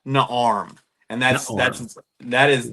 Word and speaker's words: Naarm: It's five letters and it's pronounced Naarm.